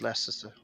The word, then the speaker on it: Leicester: Yeah, You- it's Leicester.